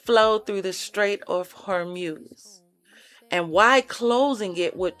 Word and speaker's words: Hormuz: Hormuz, it sounds like Hormel, so every time I get ready to say it, I be wanting to say Hormel, and I gotta like add the UZ before the EL come out.